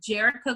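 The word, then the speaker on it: Jerica: by the name of jericho glasper so her name is it's like erica with a j it's j-e-r-i-c-a and her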